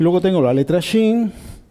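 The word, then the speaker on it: שׁ: Y luego tengo la letra Shin, y yo sé que se pronuncia Shin porque en la rama de la derecha hay un puntito arriba. Si el puntito estuviera aquí en la rama de la izquierda, ya no sería Shin, sería S. Pero es Shin.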